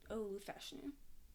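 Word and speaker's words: Olu Fashanu: Pronounce it for me, Kian. Olufashanu.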